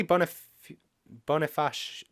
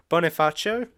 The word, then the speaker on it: Bonifacio: His name is Charlie Boniface. Stefan, why did you have to pass on your inability to pronounce names to me? Hey, that's not my fault. Yes, it is. Okay, his name is Charlie Bonifacio, and he did a